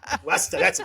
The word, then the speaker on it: Worcester: Westa.